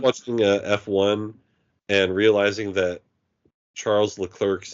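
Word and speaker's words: Charles Leclerc: British guy yeah like say charl lir it's Charles L cler like when he says his name he says Char hi I'm Charles L clerk I'm a F1 driver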